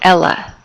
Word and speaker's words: ll: The double L sound or ella in Spanish does not sound like it does in English. This is a common mistake. Okay, it does not sound like la, like Ella. It's ella. It sounds like a Y, yeah sound.